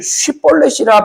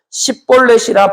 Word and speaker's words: 쉿볼렛: 만일 아니라 하면 그에게 이르기를 쉿볼렛이라 발음하라 하여 에브라임 사람이 그렇게 바로 말하지 못하고 십볼렛이라 발음하면 길르앗 사람이 곧 그를 잡아서 요단강 나루턱에서 죽였더라.